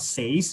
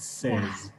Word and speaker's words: says: Yeah, you don't actually make the A sound. It's not says, it says.